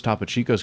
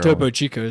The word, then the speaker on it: Topo Chico: But um Yeah, but you have that like those top chicos can probably topo Chico.